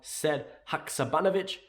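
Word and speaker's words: Sead Hakšabanović: in the comments you below your thoughts on said hakuzabanovich i'm very proud i can get his name pronounced right and yeah until next time hail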